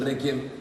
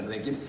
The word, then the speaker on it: Requiem: Pero de pronto decir Requiem, misa de Requiem, de entrada, ¿qué quiere decir Requiem? Requiem o Requiem, si lo queremos pronunciar en latín, querría decir descanso.